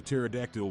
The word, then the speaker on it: pterodactyl: Why can't you hear a pterodactyl when he goes to the toilet? Because the P is silent.